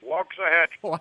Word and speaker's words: Waxahachie: Gary Cubetta back with you again, and it's my pleasure to introduce from how do you pronounce it? Waxahachie.